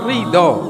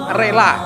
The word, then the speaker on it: ridho: Jadi bahasa Arabnya ridho, diucap oleh orang Indonesia rela, diucapkan oleh orang Jawa rilo. Nah, orang Jawa ini punya kalimat rilo. Rilo itu rela, ridho. Memang lidahnya orang Jawa itu begitu, ya. mengucap ridho jadinya rilo.